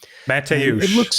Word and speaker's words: Mateusz: Mateusz. That's how you say the first one.